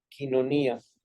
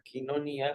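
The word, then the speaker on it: koinonía: vista hasta arriba es la parte de la quinonías y la quinonía es esta famosa parte de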